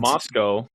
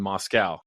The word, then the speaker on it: Moscow: yeah boyy not boyy also the capital Russia and the town in Idaho quite different uh pronun Moscow and Moscow very different yeah Moscow Moscow if you say Moscow Idaho PE people there are they're looking for a fight they're usually drunk anyway